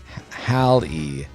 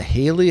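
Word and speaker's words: Halley: amount of damage um we learned to pronounce it Hal so it's not Haley it's hiy Hal's Comet oh well okay I guess that's helpful I mean it really shouldn't be Holly's Comet cuz it's a hall and then e but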